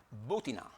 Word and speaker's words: Butina: Talk, entrevistó a María Butina, lleva acento en la U, una mujer que pertenece